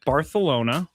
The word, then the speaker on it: Barcelona: Barcelona. That's how you say it. And not how you say it.